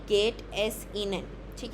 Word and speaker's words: Ihnen: वी गेट एस तो same ही है और ये इनेन है। ठीक है? हस बिल्कुल लाइट है। इहन नहीं है।